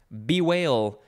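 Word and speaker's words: bewail: is probably a bevy now we have the whale be whale it is oh i should probably spell it because whale sounds like whale b-e-w-a-i-l it is a verb from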